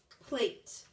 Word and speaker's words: plate: write code and read plate plate a make sure you're naming and writing p l a t okay let's code together p l a t e plate e is silent a is long a with a name